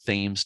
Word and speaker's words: Thames: They do pronounce it Thames down there, not Thames like in England.